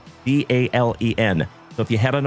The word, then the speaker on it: Dalen: My name is Dalen. If you are new here, D A L E N like Dale plus N.